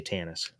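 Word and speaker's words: Tanis: paradise for the chosen I know it's supposed to be pronounced tonis I say Tannis is that what tonis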